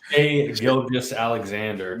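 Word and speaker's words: Shai Gilgeous-Alexander: Shea Gilgeous Alexander.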